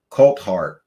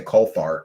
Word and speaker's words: Coulthart: Coltart. Yes, his name is Coltart. Did I Did I say it wrong? I always say Colart or Colt Fart. I don't know.